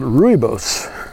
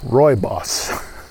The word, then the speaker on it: rooibos: red tea program comes from a plant called rooibos which is I'm sorry Roy boss my boss I actually got the pronunciation written down here and I messed it